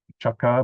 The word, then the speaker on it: Chakka: Now remember, Chakka has a H there, cha, pronounced as cha. Without the H, it is cha, chakka. Chakka means wheel. This is chakka, chakka. So there is this plosive, this burst of air, cha.